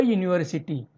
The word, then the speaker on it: university: A university. This word university begins with U. U is a vowel sound, but its pronunciation is like a consonant sound.